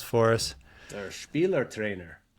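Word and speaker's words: Spielertrainer: And he has sort of a German word that I'll get Cass to pronounce for us. Or Spieler trainer. Spieler trainer.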